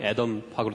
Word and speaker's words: Adam: 있데 영어 이름이 애덤으로 되 있습니다 왜냐면 제가 학부 때 전공이 원자핵을 전공을 했기 때문에 그때 애의 이제 미국식 발음이 애덤 하고 똑같아서 덤이라 이름을 쓰고 있습니다